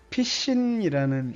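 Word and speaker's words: Piscine: 본명은 피신이라는 이름이거든요. 근데 그게 영어로 오줌이라는 단어하고 되게 발음이 비슷하기 때문에 어려서부터 애들이 맨날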